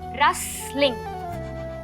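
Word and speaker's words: wrestling: लाजो देखो, जो रसलिंग है ना, उसका प्रोनाउंसिएशन होगा रसलिंग, रसलिंग, रसलिंग, ठीक है?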